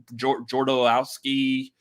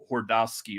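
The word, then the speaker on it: Jodorowsky: his name but jordaus jordaowski butchering the hell out of that i know but it's not pronounced it's not a j it's like a soft j like uh hordowski or something like that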